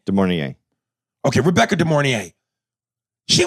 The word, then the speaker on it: De Mornay: Am I saying it right? Yeah. Is it Rebecca De Mornay? De Mornay.